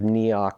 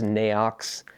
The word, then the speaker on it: Neox: between the three devices here in North America we have glommed onto the pronunciation of Neo you might hear over uh se's Nao it's kind of a combination of uh next and new so Neo Neo and